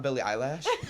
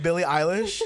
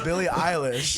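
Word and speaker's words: Billie Eilish: eyelash okay I put four how do you pronounce it it's not Billy eyelash no it's Billy ey who told Billy have you never once heard in your life Billy eyelish I thought it was Billy eyelash no it's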